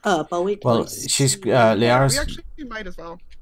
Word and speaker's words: Liara: I know how that goes, because everybody tries to say Lyara, and it's Liara, so.